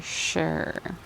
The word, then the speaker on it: sure: This number 17, you kind of hear that sh sound at the beginning. Sh. So you might think that E might be silent. It's not the long U sound, it's just all those things to remember.